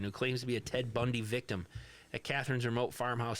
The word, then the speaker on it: Ted Bundy: Ted Bunny. Ted Bunny. We didn't We're not mispronouncing Ted Bundy. No, it's Ted Bundy.